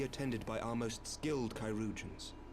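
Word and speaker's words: chirurgeon: by our most skilled kyans that's how you pronounce that it's not churgin it's kyans what the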